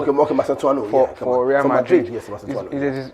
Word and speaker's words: Mastantuano: the Argentina guy, I don't know how to pronounce his name. I don't want to murder his name. So Cristiani? No, Mastantuano. Okay, Mastantuano.